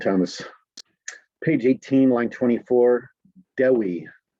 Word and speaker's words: Dewi: Page 18, line 24, Dewi. Dewi.